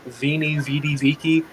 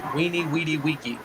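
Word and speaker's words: veni, vidi, vici: is him saying like veenie zidiziki no that's not how it's pronounced in latin because these made wah sounds so it's weenie weedy weaky and he sounds like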